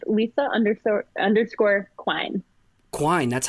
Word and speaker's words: Quine: poster and it says Quine rhymes with wine and I'll feel like